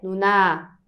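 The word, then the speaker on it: 누나: certo mas é também não é Nuna é Nuna Nuna desse jeito certo então a gente vai colocar um pouquinho mais de e força quando a gente vai ler a última sílaba certo então é irmã mais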